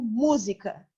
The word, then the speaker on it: música: Eu digo música. A palavra música tem uma sílaba tônica. Mu. Zi, ka. Esse zi, ka são sílabas átonas. Não tão fortes, não tão tônicas quanto mu.